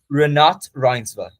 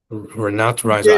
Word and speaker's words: Renate Reinsva: Renate Reinsva. Renat Reiser. I've been butchering that in my videos.